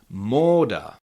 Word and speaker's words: móda: So again, it's a little bit longer o, short o, long o. Uh so you can repeat after me. Mort. Mort, that's fashion. And goal. Goal, that's a goal.